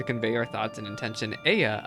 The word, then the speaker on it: Ea: When the vibration of vocal folds was still required to convey our thoughts and intention, Aya, I believe, was the pronunciation used when referring to our people.